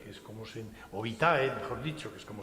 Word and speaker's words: vitae: la historia que les mostraba la historia magistra vite que es como se vitae Mejor dicho que es como se pronunciar que les instruía en lo que debía